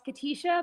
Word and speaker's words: Katisha: It's Katisha, but that's okay.